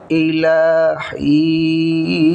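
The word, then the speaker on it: إِلَىٰ حِينٍ: এই মদের হরফের পরের হরফ অক্ফ হলে পরে তিন আলিফ টেনে পড়তে হয়। উচ্চারণটা হবে ইলাহিন।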